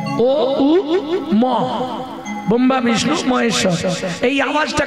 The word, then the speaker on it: ওম: মন্ত্র বললেই প্রথমেই ওং ওম যেটাকে আমরা ওম বলি কথাটা তো ওম নয় ওম ও উ ম ব্রহ্মা বিষ্ণু মহেশ্বর এই